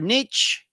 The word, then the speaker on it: niche: that uh we have our Niche or niche Niche ni he and uh that's where